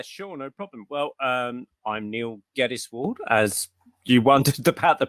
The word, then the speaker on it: Neil Geddes-Ward: Well, I'm Neil Geddes-Ward, as you wondered about the pronunciation earlier.